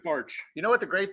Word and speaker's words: Baertsch: now uh rt-sch how do you say your name again barge i always want to say bearch it's just march ae is weird i totally get that